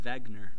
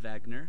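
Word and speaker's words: Wegener: right here is Alfred Vagner I know the last name starts with a w but it's pronounced Vagner he's of German origin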